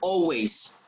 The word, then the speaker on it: always: You do not pronounce the letter L. You say always. Letter L is silent. Always.